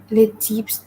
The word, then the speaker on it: types: The S of the plural is generally silent. Okay. Mm. So I know in English we would pronounce the S, wouldn't we? But here we're going to say les types.